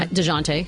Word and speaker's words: Dejounte: I don't really know how to say his name. DeJounte Murray. Am I right there? DeJounte. DeJounte. Yeah. Okay. Close I enough.